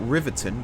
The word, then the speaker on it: Riveton: It's spelt Riveton, but it's pronounced Riveton. I've been reliably informed.